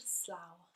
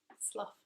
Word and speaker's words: Slough: Farnham Park is located in Slough, the town of Slough. Slough, as it probably looks like to Americans. But that is pronounced Slough.